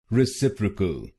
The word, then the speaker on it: reciprocal: रेसिप्रोकल, रेसिप्रोकल। और इस शब्द में आपको दूसरे शब्दांश पर जोर डालना है, रेसिप्रोकल, रेसिप्रोकल।